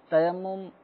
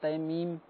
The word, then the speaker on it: تیمم: لانا آسان ہوتا ہے۔ تیمم بہت کم کرنے کا موقع ملتا ہے تو اس وجہ سے اس کا تلفظ صحیح طور پہ ادا نہیں کر پاتے۔ تیمم، بعض سوالات جو ابھی ریکارڈڈ آئے تھے اس میں تیمیم کے بھی الفاظ سنائی دیے گئے تھے۔ اب وہ تو